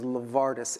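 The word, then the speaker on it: LeVardis: in a name my name in full is lavardis l v a r d i s I have a black name yeah that's that's that's real black that's real black lard lavardis lavardis my first day of first grade Holy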